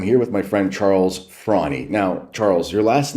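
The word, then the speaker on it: Fraune: I'm here with my friend Charles Frawny. Now, Charles, your last name is spelled F-R-A-U-N-E, and you pronounce it Frowny, but it looks like frown.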